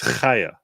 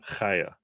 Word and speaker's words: Chaya: It's Chaya. Comes from the back of the throat. Chaya. You're talking about the first name of Libs of TikTok? It's pronounced Chaya.